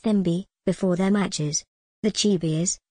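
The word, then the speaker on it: cibi: team used to perform the chibi pronounced thembi before their matches the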